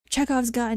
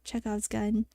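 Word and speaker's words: Chekhov's gun: to own the entire physical copy of it cheze off's gun yeah that's that's the name of it cheze off's gun that's how you pronounce it we're learning literature today cuz sometimes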